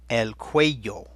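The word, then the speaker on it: cuello: eight elk way yo elk way yo that Y sound is not a Y Quaid yo and there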